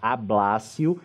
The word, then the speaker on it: ablatio: O que é a teoria da ablatio, que é assim que se escreve, mas se pronuncia ablácio, indica?